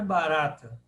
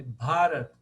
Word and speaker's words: Bharata: Agora, vocês vão reparar aqui que a longa é o Ba. Então, Mahabharata. Mahabharata. Não é barata, é Bharata. Por quê? O terceiro A de trás para frente é o longo. Aí ficou Bharata, Mahabharata.